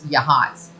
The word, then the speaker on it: Yachats: But yeah, Bree said that's pronounced what I thought was Yahats. It's Yahats.